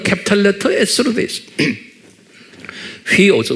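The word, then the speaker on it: υἱός: 휘오스, 후이오스 또는 휘오스라고 휘를 후이라고 제가 가끔가다 여러분들이 말하죠. 정확한 발음은 휘오스. 그런데 이제 후이오스 쉽게 그냥 이렇게 하세요.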